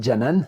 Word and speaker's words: Canan: trop mal son nom ça s'écrit cannan mais ça se dit janan ça j'en suis sûr